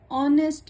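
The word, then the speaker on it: honest: My friend is एन ऑनेस्ट मैन, हम यहाँ पे एच को नहीं बोलते तो ये साइलेंट हुआ।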